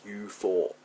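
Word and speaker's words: ユーフォー: you four in Japanese it's not UFO it's you for for whatever reason someone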